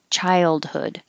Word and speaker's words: childhood: Childhood, and we do say the D. Childhood.